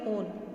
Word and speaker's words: one: Usually हम 1 बोलते हैं, लेकिन इसमें हम प्रोनाउंस कैसे करेंगे, ओन, ठीक है।